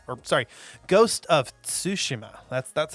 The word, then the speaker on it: Tsushima: part two of our episode on ghost of tsushima or sorry ghost of tsushima that's that's how it's actually pronounced mom's making sushi mom's making sushi mom's